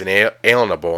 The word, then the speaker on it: unalienable: Now really quick, an unalienable right, pronounced inalienable in today's words, means a right that cannot be liened or a right given to you from God.